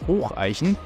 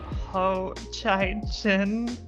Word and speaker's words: Hocheichen: We then proceed to Hatzenbach, and then it is off to Hocheichen, Hocheichen.